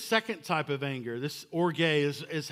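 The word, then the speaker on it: ὀργή: then there's this second type of anger this orgay is is how it's pronounced it's this vengeful seething resentment held over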